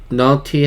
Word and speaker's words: naughty: Lazy 하면은 게으른, naughty 하면 못된. 여기서도 이 안에 있는 GH가 발음이 되지 않아요. 그래서 naughty 하시면 안 돼요. 그냥 naughty 하시면 돼요.